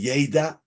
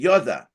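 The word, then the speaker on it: ידע: You know, the way we pronounce the word Yud Dalet Ayin that appears in the Gemara is not Ad Deloy Yeda, but Ad Deloy Yoda. So it's not a future tense, it's a past tense.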